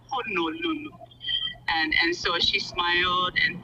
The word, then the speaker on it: Honolulu: The way to pronounce Honolulu is just that, Honolulu."